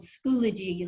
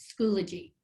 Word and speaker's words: Schoology: the left is called schoology like eulogy that's how you pronounce it schoology it's a remote learning